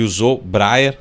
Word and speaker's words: Yohzô Breyer: E usou Breyer. Acertei aqui a pronúncia, não?